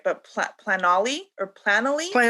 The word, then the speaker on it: Planoly: I know I use like they have plat I don't know if I I'm saying it right, but plat planoly or planoly?